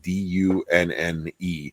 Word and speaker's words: Dunne: So for anybody that's listening, Tom's last name is spelled D-U-N-N-E.